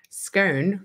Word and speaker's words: scone: Sarah, scone rhymes with gone. It clearly doesn't.